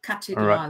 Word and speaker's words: Kathedrale: Remember, the German don't have a TH, so it's just pronounced like a T. So cathedrale.